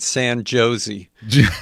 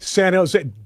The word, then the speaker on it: San Jose: You know, I'm representing the please pronounce it San Josie. I don't think so. What? San Jose.